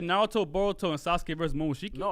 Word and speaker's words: Boruto: You said Naruto, Boruto, and Sasuke versus Momoshiki. No, I literally wrote. I said every single person. I said Sasuke, Naruto, and Boruto. Boruto rhymes with Naruto.